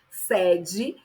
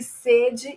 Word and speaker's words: sede: e ele já tem um um som mais aberto por com som de acento circunflexo, significa secura, necessidade de ingerir líquido. Perceba que sede e sede ambos se escrevem da mesma forma, mas a pronúncia muda, tá?